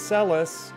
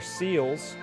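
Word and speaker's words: Celes: That's Celis, or as I used to call her, Seals. We love pronunciations around here.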